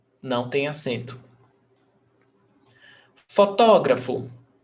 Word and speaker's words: fotógrafo: Fotógrafo. Fotógrafo. Proparoxítona. All proparoxytonas have the accent.